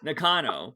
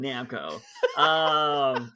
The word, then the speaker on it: Nakano: Nakano. There you go. Nakano. Well, see, I don't respect him. That's why I'm calling him Namco.